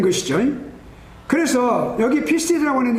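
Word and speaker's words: πίστις: 여기 피스티스라고 하는, 제가 영어로 이렇게 여기 PISTIS라고 적어놓은 것은 사실은 피스티가 E를 영어로 E를 더 넣어주는 게 좋아요. 피에라고 발음을 안 치면 E를 발음하는 것 같은 그런 기분으로 하는 거예요. 그러니까 피스티스.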